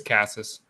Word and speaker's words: Casas: How do you pronounce that? It's Casas.